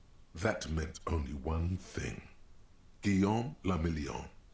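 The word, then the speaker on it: Guillaume Le Million: meant only one thing guillaume lamillion if it doesn't rhyme you're not pronouncing it right oh out of the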